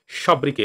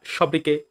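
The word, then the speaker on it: sobriquet: এবার চলে আসি পরবর্তী ওয়ার্ড সব্রিকে। দেখো উচ্চারণ সব্রিকোয়েট হওয়ার দরকার ছিল, কিন্তু সঠিক উচ্চারণ কি সব্রিকে।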